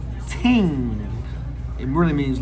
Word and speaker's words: Ting: Pronounced Ting. It really means like things. That's how you say things. We say ting in patois.